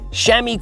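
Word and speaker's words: chamois: Even experienced cyclists do get sore when they ride a lot, so shami cream can help. Yes, that is how Shami is spelled.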